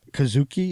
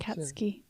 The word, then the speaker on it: Katsuki: And it goes, some time ago, a younger Izuku Midoriya stands up to Kazuki. Is that how you pronounce it? Katsuki. Huh? Katsuki.